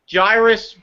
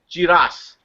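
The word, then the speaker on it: Jirass: like giraffes oh but it's it's you Jairus but it's been for Japanese pronunciation it's jiras yeah okay what you're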